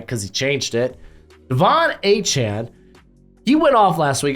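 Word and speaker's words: Achane: his name right because he changed it Devon a Chan he went off last week I think he's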